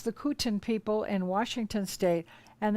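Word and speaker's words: Kootenai: the kutin that looks like it should be pronounced kutanai but we understand it's the kuten people in washington state and the cherokee in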